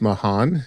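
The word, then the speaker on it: Mahon: So Barry I'm going to pronounce his name as Mahan. It's m a h o n.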